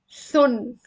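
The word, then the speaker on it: ثٌ: So this is pronounced thun. Thun. Also with that, we get our tongue a little bit out to get this like snake sound.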